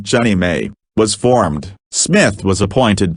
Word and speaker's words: JNMA: They sanctioned the proposal, and the non-profit Jefferson National Expansion Memorial Association, JNMA, pronounced Jenny May, was formed.